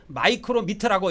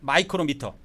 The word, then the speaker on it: 마이크로미터: 이게 마이크로미터라고 읽습니다. 이게 마이크로미터라고 읽어요. 이거를. 이게 7.2에서 8.4 정도 직경이. 두께는 2에서 3 마이크로미터. 이거 읽을 때 마이크로미터 이렇게 읽어요.